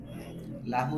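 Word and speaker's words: لَهُ: হ্যাঁ, এই লায়ের মাখরাজের পরে হায়ের যদি লাতে জের দিয়ে পরে হা উচ্চারণ করতে কষ্ট হয়, এই জন্য আরবরা হলো গিয়ে উচ্চারণের সুবিধার্থে লাহু লিকে লা বানায় ফেলছে, লাহু।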